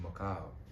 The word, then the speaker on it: Mekhail: It's actually pronounced Mekhail. Mekhail.